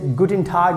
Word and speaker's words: guten Tag: you meet with someone anybody you can say guten tag that means you are saying hi hello good